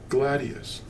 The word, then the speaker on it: gladius: g-l-a-d i v s but the V is the deception it's not really a v it's it's just a u sound Gladius it's a Latin word